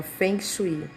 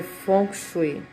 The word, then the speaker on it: Feng Shui: já ouviu falar de funk você deve ter ouvido falar mas você deve ter ouvido desta forma Feng Shui né mas se pronuncia funk é uma técnica milenar